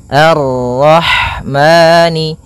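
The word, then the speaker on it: الرَّحْمٰن: Kemudian pada lafal roh di sini ada huruf ha. Ha yang berharakat sukun. Dan sifat ha itu yang paling mencolok adalah sifat hamnya yaitu mengalirnya nafas ketika kita membacanya. Arrah arrah.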